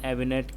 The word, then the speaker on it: eminent: Can I say Sachin Tendulkar is an eminent cricket? I suppose you could, but the stress is on the first syllable M. It rhymes with the words them and him.